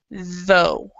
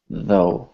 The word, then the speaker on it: though: to do about it in this word the U is silent so you just say though though though okay because a lot